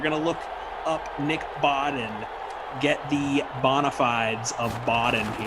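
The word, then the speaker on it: Bawden: depth chart right now Nick bod Boden b a wde n Nick Boden I was I was GNA say Baldwin it looks like Baldwin is spelled his name looks like Baldwin spelled incorrectly that's who that is Nick Boden with the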